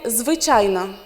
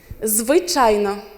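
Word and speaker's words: звичайно: You say zwyczajno. Zwyczajno.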